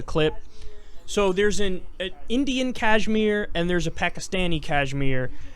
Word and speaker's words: Kashmir: you see we have kashmir and jammu forgive me for pronouncing these like a white boy um I think it's called Kashmir like the cloth the wire you do